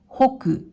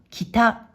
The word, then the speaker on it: 北: 音読みでは北、北、またはほ、ほ。訓読みでは北、北と読みます。